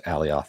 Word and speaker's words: Alioth: So yeah, it's pronounced Alioth.